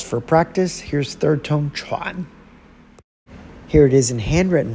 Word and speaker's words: 串: And finally, the sharp dropping Chuan, fourth tone.